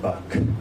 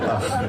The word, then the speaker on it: Bach: And it's not pronounced Bach. That's what Americans say, but sorry. It's called Bach.